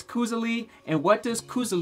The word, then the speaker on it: koselig: well that's how we say it in America Koza League but it's actually pronounced hold on hold on it's actually pronounced COO silly COO silly yes in its norwegian or yeah